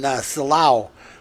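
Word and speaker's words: Silao: eric that little there's some something rotten in salaw look at you did i say it right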